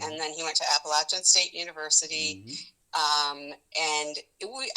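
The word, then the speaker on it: Appalachian: Also at NC State, Paul went to Appalachin, which is how we pronounce that school in the mountains um, in North Carolina.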